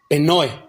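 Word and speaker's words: πνοή: Esa palabra viento, mi hermano, del griego, se escribe P de papá, N-O-E, con acento, penoe, que significa respiración, viento, un soplo, aliento.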